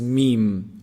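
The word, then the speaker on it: م: When you bring both lips together, when you combine both lips together, when they close up, this is meem. And there's some nasal sound also coming from the nose. Meem, meem.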